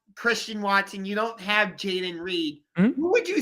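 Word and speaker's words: Jayden Reed: But it's like you guys just lost Jaden Reed.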